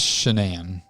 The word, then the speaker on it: Shanann: Is it pronounced Shanann or is it Shannan? It's Shanann.